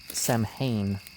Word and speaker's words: Samhain: It may have originally been pronounced Sam Hayne related to the whole gathering of the whole thing.